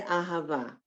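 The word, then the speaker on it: אהבה: In the middle of a word or in the beginning, you get an H sound. Be, ahava.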